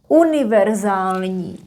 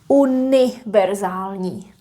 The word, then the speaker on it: univerzální: Univerzální, universal. Again, there is no ň. Univerzální.